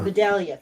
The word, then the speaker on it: Vidalia: Vidalia. Vidalia.